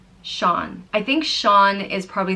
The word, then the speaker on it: Sean: The next name is Sean, and it means God is gracious, and it's pronounced Shaw-n. Sean.